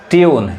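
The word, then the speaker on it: tune: rule अब वही देखिए अब यहां टून नहीं कहेंगे क्या हो जाएगा गलत हो जाएगा ट्यून यानी यू पढ़ रहा है ट्यून समझ में रहा है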